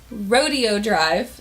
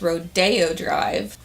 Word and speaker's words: Rodeo Drive: the shade Rodeo Drive, which everybody tells me that's Rodeo Drive. You guys always correct me in the comment section, so I guess it's Rodeo, but I've kind of been boycotting it because it's spelled like rodeo.